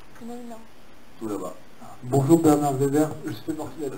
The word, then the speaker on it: Werber: Weber. Weber, je vous prie. Non, c'est dur à prononcer, depuis je suis petit, c'est Weber.